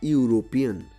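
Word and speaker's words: European: যেমন এ ইউরোপিয়ান, ইউরোপিয়ানের শুরুতে ই আছে কিন্তু উচ্চারণ ইউ।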